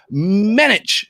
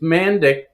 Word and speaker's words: Mandic: It's Mandic, but the proper pronunciation, if you're in Europe, is Mandic. For all those, Croatians and Serbs out there, whatever, it's Mandic. Slovenian, yeah. Mandic. So and Mandic. But it's always been Mandic.